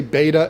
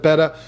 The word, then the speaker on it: betta: don't like the way i say beta instead of betta you don't have to waste your time in the comment section typing i can't take advice from someone who doesn't even know how to pronounce the name dislike seriously we can